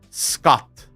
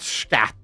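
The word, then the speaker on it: skat: Scott. Scott. As in S-K-A-T. Scott. Not scat. Scott.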